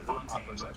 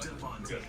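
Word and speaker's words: de Fontaine: It's not Fontaine, but DeFontaine, and mentions the Secretary of Defense as Anderson.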